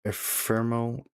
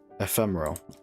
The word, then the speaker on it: Ephemeral: It's called R Ephemeral.